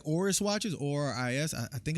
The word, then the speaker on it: Oris: I want to learn more about watches and the origins of like Rolex and like Seiko, and I like Oris watches, ORIS. I think it's pronounced Oris.